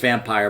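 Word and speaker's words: Vampyr: rain now I recognized him from vampir or vampire apparently you're supposed to pronounce a vampire as the developers said it's supposed to be pronounced vampire but the way it's spelled I've just always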